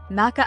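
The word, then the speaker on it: Makkah: various names including meca Maca al- mukama and maaba Maca is the official transliteration used by the Saudi government and is closer to the Arabic pronunciation the city is also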